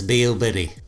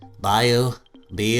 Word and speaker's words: Miyoo: game boy space this beau biddy how do you say that bayou be you be like a cat mew yeah this thing took